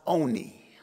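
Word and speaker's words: עֳנִי: In the Hebrew, this is a word that's pronounced oni. Oni.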